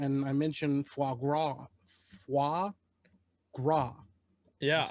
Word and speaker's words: foie gras: Foie gras. Yeah. That's how you pronounce it.